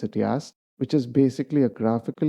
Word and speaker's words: YaST: I pronounce it YaST, which is basically a graphical user interface to help edit system settings.